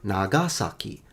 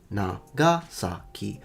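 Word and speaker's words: 長崎: The Japanese say Nagasaki, Nagasaki, so both sa and ki are definitely low.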